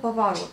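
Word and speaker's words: поворот: Et donc, le O, justement, pour le retenir, ça vient du mot pavarot. Bon, encore une fois, je suis d'accord, on prononce le A, mais on écrit le O, mais ça vient du mot pavarot.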